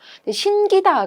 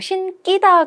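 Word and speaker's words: 신기다: 담고 이런식으로 된소리로 발음되는 신기 다 같은 경우 신 끼다 가 아니라 신을 신겨 주다 이런 의미로써 신을 신기 지 그대로 발음하는 것이 맞아서 요 지점에서 신기 이지 이런식으로 된소리 발음 하지 않는다 라는 점 알아 두셔야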